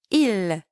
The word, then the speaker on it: ils: Now, note that both sound the same as il and elle from the singular forms, but the difference is that there is a silent S at the end.